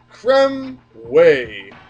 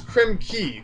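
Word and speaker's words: Krem Quay: times at this point creme way okay or actually no someone pointed out I think it was creme key because quu a y for some reason is pronounced key I believe that was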